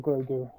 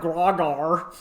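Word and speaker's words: Grogu: stupid listen I love grer oh so that's how it's pronounced I thought it was like grogar I just I just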